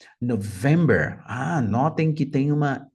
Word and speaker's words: November: vez só Mike November representando a letra N November November Ah notem que tem uma ênfases no vem November táxi vai a lima Eco November Lima Eco November interessante né como fica claro